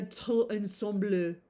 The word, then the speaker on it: tout ensemble: And then her air, her manner, her tout ensemble.